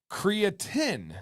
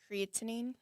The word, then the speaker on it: creatinine: Went to go get my blood results and my creatin, is that correctly pronounced? Say it again. Creatinine.